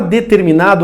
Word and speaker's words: determinado: Na palavra determinado ocorre um dígrafo, representado por RM. Determinado, o R é pronunciado e o M é pronunciado.